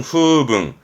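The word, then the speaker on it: 風聞: 풍문이라는 거 발음은 후붕.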